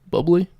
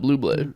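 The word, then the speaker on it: Bubly: Bubbly. Really? Yeah, they say it's bubbly, not Bublé. Bublé. Not Bublé. Because it's spelled the same, right?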